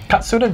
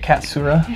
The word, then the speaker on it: Katsura: saying it was like, if you were American, you pronounced it cat. Then a lot of Americans pronounce it Katsura. And I couldn't make myself pronounce it because I've been working on Japanese so much.